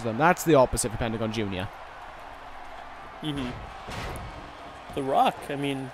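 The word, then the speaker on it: Pentagon Jr.: the rock but from Pentagon junor that's how you say it in Spanish uh yeah and that's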